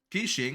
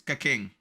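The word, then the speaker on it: Keqing: Kishing? What the fuck is Kishing? It's Kaking. Say it right, motherfucker.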